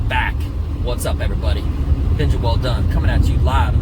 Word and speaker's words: Welldone: or gals know but my last name is actually pronounced well done like good job right um but phonetically uh